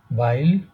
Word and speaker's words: weil: will Weil, sein, উচ্চারণটা হচ্ছে বাইল, না বাইল।